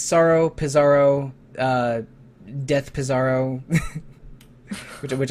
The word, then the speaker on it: Psaro: general and one on sorrow from Dragon Quest 4 specifically I think I I think pizaro or or pizaro might be a more accurate pronunciation of his name but on the NES